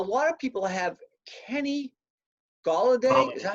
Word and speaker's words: Golladay: A lot of people have Kenny Golladay, is that how you say it? Yeah, Kenny Golladay with Detroit.